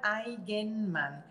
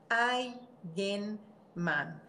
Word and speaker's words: Eigenmann: Então, meu sobrenome é suíço e se pronuncia Eigenmann. Eigenmann. É mais fácil do que parece.